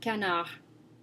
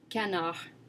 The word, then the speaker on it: canard: Another example is the word canard. Canard. As you can hear, I'm not pronouncing the D at the end of the word at all. Canard, of course, means duck in English.